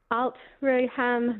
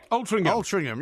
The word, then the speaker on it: Altrincham: at, I'm going to say it wrong, but Altrincham Market. Altrincham, yeah, there you go. Altrincham. Oh, thank you. Very well known to us. Not far from Nantwich, actually. Actually, it is, yeah. Yes, that's excellent. Well, Altrincham is very close to Manchester, Tarin, and as